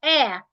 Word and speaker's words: heir: For some of them, you have air, H-E-I-R, air.